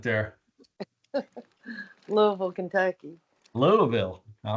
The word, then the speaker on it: Louisville: a lot of people like you don't hear the I at all.